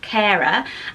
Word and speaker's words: Kara: So it is the name Kara. So it sounds like care, like with a curly K. Oh, sorry. I'm homeschooling with a C. Kara.